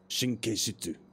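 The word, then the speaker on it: 神経質: Oh, so, let's see if I get my pronunciation right. I haven't said this in a while. Shinkeishitsu.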